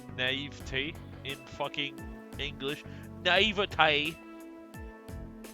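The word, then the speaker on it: naïveté: Naivete. The E is silent. It really is just silent. It's naivete.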